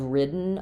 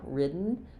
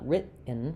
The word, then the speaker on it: ridden: I've ridden a horse before. Ridden. So there I have again rid ridden written I don't release that d so it's not uh it's not written written um so written